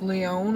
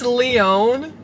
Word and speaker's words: Lyon: How many letters are in Lyon? Lyon. 4. What's the second number in How many Kaylee's syllables? favorite number? Lyon. 2 syllables. 2 syllables, 4 letters.